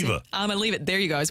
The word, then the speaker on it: Iamaleava: Nico Iamaleava, I don't even know how to pronounce it. Iamaleava.